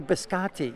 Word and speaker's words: biscotti: That's my almond That's biscotti. the almond. Which is that my. the way you pronounce it? I always used to say biscotti.